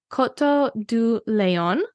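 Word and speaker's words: Coteaux du Layon: be so proud so the first region is Koto do Leon and it's spelled like Koto de Leon so you have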